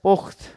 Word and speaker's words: পোক্ত: সেখানে দেখব যে পোক্ত পোক্ত শব্দটির উচ্চারণ হচ্ছে পোক্ত অর্থাৎ এখানে কিন্তু আমরা এসে থেমে যাচ্ছি এটিকে আমরা যখন বলছি পোক্ত অর্থাৎ পোক্ত উচ্চারণ যখন আমরা বলছি তখন বিশ্লেষণ করলে দেখা যাচ্ছে যে ধ্বনিগত যে বিশ্লেষণ সেই ক্ষেত্রে কিন্তু পোক্ত ত এর পরে কিন্তু অ ধ্বনিটি চলে এসেছে কিন্তু আগের যে এখানে